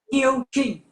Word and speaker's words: Kieu Chinh: Yes, Kieu, can you give the correct pronunciation of your name? I just want to make sure I got that. Kieu Chinh.